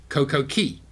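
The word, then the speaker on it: Coco Cay: Thomas, and the Coco Key. Why they call it Key when it's spelled C-A-Y is beyond me, but they call it Coco Key.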